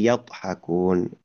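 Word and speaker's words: يضحكون: Oke, untuk huruf dod ee kembali mengingatkan untuk huruf dita membacanya itu untuk huruf d ya gitu. Lidah samping ya yang saya tunjuk dengan ibu jari dan telunjuk ini lidah samping itu menyentuh gigi geraham atas gitu ya.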